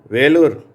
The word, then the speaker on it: வேலூர்: வேலூர் என்ற வார்த்தையில் ஈ என்ற எழுத்து ஏ என்ற உச்சரிப்பை பெறுகிறது.